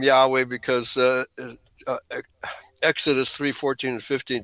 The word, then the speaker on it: Yahweh: And it translates to Yahweh. That's the way it's pronounced by in Hebrew actually.